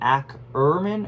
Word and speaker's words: Ackerman: Is it Ackerman or Ackerman?